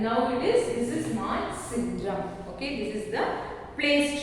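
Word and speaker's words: Mawsynram: So you have to pronounce it as Moise syndrome. Okay, Moise syndrome.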